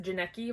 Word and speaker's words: Janeki: follows our main character janeki rhymes with jared padalecki for some reason awful